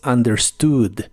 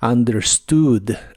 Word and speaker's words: understood: español en inglés es understood la u se pronuncia como a y la doble o como una u larga understood understood el verbo empacar en